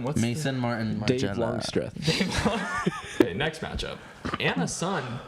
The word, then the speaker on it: Longstreth: syllable there. What's that man's name? Dirty Projectors? Longstreth. Dave Longstreth.